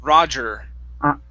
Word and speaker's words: roger: roger roger okay now push your tongue down on this er at the very end instead of rajesh okay er roger there you go okay good